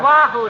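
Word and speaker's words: Oahu: the sand at oo that's pronounced Wahoo Deary you said it Wahoo 5 now sir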